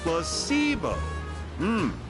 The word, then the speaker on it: placebo: to our vocabulary today plus sio h the stress is on the middle C very good you're figing